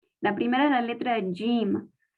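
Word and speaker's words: جيم: La primera es la letra Jim. La Jim se pronuncia Y, como doble L en español.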